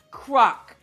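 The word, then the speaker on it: Crock: I'm Crack, last name pronounced Croc, and first name is Croc.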